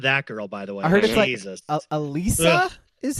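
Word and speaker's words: Alysa: Alisa is how you actually pronounce her name.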